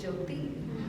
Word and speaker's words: Jyoti: But I tend to say T, like T, like Jyoti. Actually, it is Jyoti.